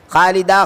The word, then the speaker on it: خالدہ: لوگ کیا کرتے ہیں، خالدہ کے اندر اصل میں خا، الف، لام، دال اور اس کے بعد ہا آتا ہے، لیکن چونکہ عام بول چال کے اندر وہ ہا کا تلفظ ہوتا نہیں ہے، خالدہ خالدہ اس طرح بول دیا جاتا ہے، تو سننے والے یہ سمجھتے ہیں کہ یہاں پر الف ہے، یعنی الف جیسا تلفظ